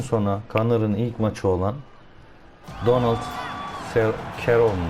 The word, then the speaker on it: Donald Cerrone: kanalın ilk maçı olan donos şeron diye okunuyor evde damlatma yaptığı maça